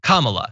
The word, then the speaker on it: Kamala: who is on said her name is pronounced comma like the punctuation mark la, Comma-la.